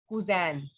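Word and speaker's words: cousine: female then we have kuzan in the first one the sound of n will not be there while in the second one the sound of n will be there that is basically the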